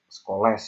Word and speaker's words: Scholes: Bacanya Black and Scholes ya, bukan Black and Scholes ya. Habis les, bukan Scholes, Scholes.